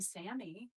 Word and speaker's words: Sami: I was like, hi, like I'm Sammy. Like it's spelled Sami.